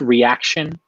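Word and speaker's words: Ryaxion: name a while back ry a x io n it's pronounced reaction no no one's ever pronounced it correctly well yeah Ryan's videos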